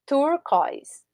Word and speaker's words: turquoise: Uma palavra com 2 sílabas. Turquoise. Turquoise. Ok? Não é turquoise, né? Turquoise. Alright? Por isso que é oi o som, e aí eu